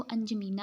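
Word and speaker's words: N'Djamena: ठीक है, एन डी यहाँ पे लिखा होगा, ये अंजमीना इसे पढ़ेंगे हम, वैसे एन डी जमीना है तो इसकी जो प्रोनाउंसिएशन है वो अंजमीना है।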